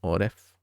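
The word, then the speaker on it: עורף: Paró, el faraón, el gobernante egipcio, que representa las fuerzas del mal, tiene las mismas letras que la palabra Oreb, pronunciado Oref, la nuca, o la parte de atrás del cuello, aludiendo al esófago, es decir, al comer.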